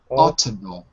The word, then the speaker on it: autumnal: with the n khaled it's with the n autumnal say it for me